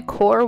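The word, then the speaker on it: QoR: here it is for you i'm using the core watercolors it's spelled q-o-r they're by golden one of my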